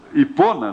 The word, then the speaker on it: Hipona: E este homem diz ali que quando agostinho de Ipona, né, Hipona, porque pronúncia, se fosse inglesa seria Hipona. Acho que é Ipona, quem sabe? Ipona.